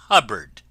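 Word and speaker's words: Hubbard: friends this is wonderful Dame hubard name that always rhymes with cupboard ever going out to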